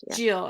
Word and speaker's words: Gilles: i say his name giles is the english version jill is how you would say in french jill okay so he is